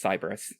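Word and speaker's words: Siberys: at me there are lots of ways to pronounce this cus cyberus it it's cyberus today here and that's s i b e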